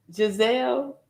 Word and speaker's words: Giselle: Oh, I'm saying it wrong. I think it's pronounced Giselle.